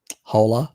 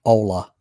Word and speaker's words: hola: so yeah uh okay not holler but ola okay got it i